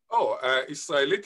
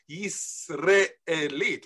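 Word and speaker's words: ישראלית: Israelit is not normative because according to the Hebrew grammar, it should be pronounced Yisraelit with a re.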